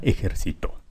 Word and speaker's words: ejercitó: entonces aguda grave y esbrujula esbrujula ejército grave ejercito y aguda ejercito así como está escrita la palabra tiene la sílaba tónica en la penúltima por eso es grave las reglas son